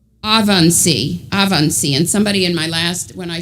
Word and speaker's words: Ebensee: And then one of them died in, and I might say it wrong, Ebensee, but I think it's pronounced differently than that. Let me see. I might have written down how to pronounce it. Avansee, and somebody in when